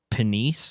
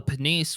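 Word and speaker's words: Pniese: selected to become a This one I did look up pronunciation for, but penise or just nice possibly. P N I E S E. I'm gonna say penise just because it sounds different than than another English word.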